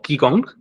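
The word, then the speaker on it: qigong: si buscan la palabra chikung que se escribe q I g o g Sería más como kiong sin la u si lo buscan se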